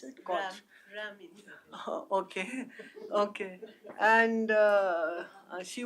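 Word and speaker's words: Koç: How do you pronounce it? Koch.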